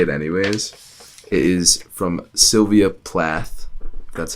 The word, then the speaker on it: Sylvia Plath: podcast I'm gonna say it anyways is from Sylvia Plath that's how you pronounce that and it is the worst enemy